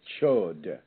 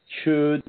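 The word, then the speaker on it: Chöd: The Tibetans have an ancient ceremony that they call a chod. That's spelled C-H-O with an umlaut and D. So the chud or chod.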